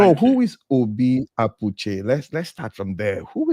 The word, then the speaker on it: Abuchi: is Obi Apuche? Let's start from there. Who is Obi Apuche? How do you describe yourself? Is it That is Abuchi? Like, that's the Abuchi. right pronunciation. Thank It you. is Abuchi.